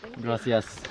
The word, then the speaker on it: gracias: Gracias.